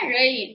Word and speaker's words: இழை: இது என்னது இழை நல்லா இழை நல்லா நாக்க மடக்கி வச்சு சொல்லுங்க நூல் இழை எதெல்லாம் மென்மையா